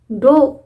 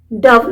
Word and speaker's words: dove: past form क्या हुआ डो डव नहीं डो डो सो शी डो अब य पर डो भी नहीं लगाएगा ईडी नहीं आएगा